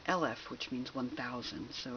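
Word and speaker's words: אלף: all creation and interestingly the letter Olive also if if it has comes with different vowels is pronounced LF which means 1000 so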